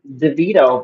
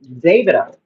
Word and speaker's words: Davido: People would normally pronounce it DeVito, but my understanding is pronounced Davido.